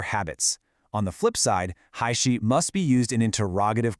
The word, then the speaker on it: 还是: The incorrect version of his sentence uses huozhe, but he was asking me a question. He wanted me to choose. The correct way to say it uses haishi. You're asking a question, so you have to use the question word for or.